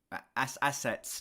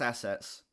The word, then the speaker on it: assets: assets, and now it's assets. Jesus Christ, I didn't pronounce the T. Sounds like I said asses. This album has shown us all of its assets, and now it's showing us that they have perfected their style.